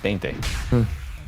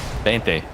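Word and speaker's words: veinte: Uh in Spanish, it's Bente. Sorry, what? Bente.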